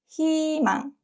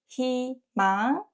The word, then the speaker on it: 희망: And one last thing, when 의 is combined with another consonant, not 이응, is usually pronounced as 이. For example, 흰색. 흰색 consonant is 히읗. So we pronounce it not 의, 흰색. And 희망.